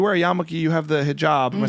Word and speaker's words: hijab: it's like you wear yamuk you have the hijab am I saying it right yes hijab yeah um people think it's conservative because traditionally